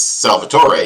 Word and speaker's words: Salvator: It's Salvator, he tells me. And I think I'm mostly getting the pronunciation right there. But I know other pronunciations for that name with the stress in different places.